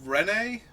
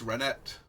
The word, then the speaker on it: Renet: So, next up is Renee, Temporal Apprentice. I'm going to assume her name is vaguely French, and that the T is silent. I don't think it's Renette, but I also don't know this character.